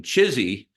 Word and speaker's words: CHSI: really one word but the acronym chsi forms The Lovable pronunciation chizy right let's make chizy happen